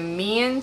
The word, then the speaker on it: Meian: It shipped from China and from the Mian store, which is spelled M-E-I-A-N.